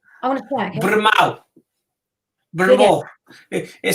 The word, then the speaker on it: Brynmawr: Brynmawr. Brynmawr. It says Brynmawr, but it's pronounced as Brynmawr.